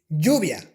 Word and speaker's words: lluvia: Okay, the English Y is very similar to the Spanish Y, but it's not the same, and I'm going to give you some examples.